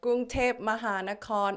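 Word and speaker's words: กรุงเทพมหานคร: Okay, so Gungtep Mahanakorn Amonratana Kosin Mahintara Ayutthaya Mahadilok Pop Noparat I'll call it Bangkok.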